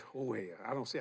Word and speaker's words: Jorge: His real name is Jorge. But his mama don't know that. His name is George. The way it's spelled, J-O-R-G. They call it in Spanish, Jorge.